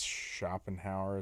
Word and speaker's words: Schopenhauer: Yet, I think it's Schopenhauer is how you say his name.